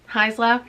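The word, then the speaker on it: Haisla: audiobook recommendation it also taught me how to pronounce heisla which is embarrassing because i am familiar with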